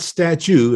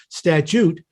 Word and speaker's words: statute: we can think of the word statute it's not statue as some people might mispronounce statute like a prescribed course